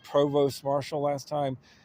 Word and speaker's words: provost: I said provost marshal last time. It's spelled provost, but it's actually pronounced provo.